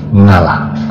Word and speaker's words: Allah: Karena lidahnya orang Jawa, makanya dipakai ngalah, bukan Allah tapi ngalah, tetapi pengucapan dari Allah Subhanahu wa Ta'ala. Nah, apakah ini manjur, Mbah?